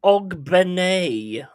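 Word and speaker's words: Ogbene: a three L enough it's pronounced OG Ben OG Ben sorry mate didn't realize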